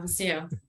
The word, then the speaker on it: Waceo: So maybe let's now move on to Waceo. Is that do I pronounce that correct? Yeah, Waceo.